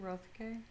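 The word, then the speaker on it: Roethke: uh i don't know how this man's name is pronounced road k rothke closer to our time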